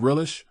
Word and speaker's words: relay: These words all have the stress on the first syllable, just like RELI. If you can remember these, you'll have a handy reminder for relay as well.